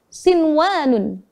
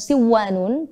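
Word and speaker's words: صنوان: Selanjutnya ketika nun sukun bertemu wawu dalam satu kalimat, itu pada kata sinwanun. Sinwanun. Bukan siwanun, tapi kita harus bacanya sinwanun. Kita baca bersama.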